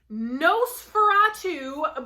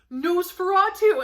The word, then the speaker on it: Nosferatu: rabbit trail okay next nosferatu by joe hill yes that's how you pronounce that which i didn't even realize until ivan took one look at the cover and he's like oh nosferatu and i just was